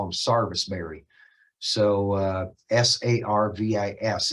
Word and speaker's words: sarvisberry: carolina they call them sarvisberry so uh s-a-r-v-i-s it's even spelled that way you know it sounds like a southern accent but they actually spell it out sarvisbury but uh to keep